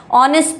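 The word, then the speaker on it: honest: ऑनेस्ट pronounce होगा।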